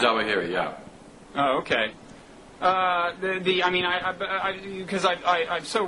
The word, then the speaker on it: Zawahiri: And do you pronounce that Zawahiri? Isn't it spelled Zawahiri or not? Zawahiri, yeah.